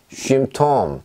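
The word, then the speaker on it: Symptom: 자, 얘는 쉼톰, 쉼톰 이렇게 읽습니다. 무슨 얘기냐면 그냥 유이 발음입니다. 유이. 유이. 쉼, 쉬, 유, 유 했을 때 그 발음입니다.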